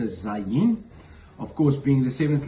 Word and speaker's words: Zayin: Zayin is pronounced as a Z, such as in Zebulon, one of the tribes